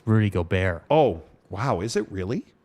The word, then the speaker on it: Gobert: It's Rudy Gobert.